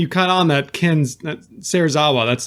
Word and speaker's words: Serizawa: Ishiro Shirazawa. You definitely it's butchered his Watanabe. name. Yeah. Yeah, Watanabe and it's Serizawa.